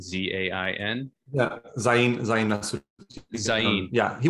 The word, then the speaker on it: Zain: And I'm thinking of the individual, I think his name is pronounced Zain. I could be wrong, Z-A-I-N.